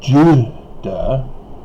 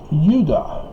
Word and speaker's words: Judah: But Judah, it's an interesting phonetic spelling, pronunciation, because it's not Judah, it's Judah. It's a Y from Hebrew with the yod.